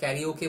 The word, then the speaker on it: karaoke: बहुत सारा कन्फ्लिक्शन है, कोई इसको कैरियोके बोलते हैं, कोई इसको कैराओके बोलते हैं, तो मैं तो कैराओके बोलता हूँ।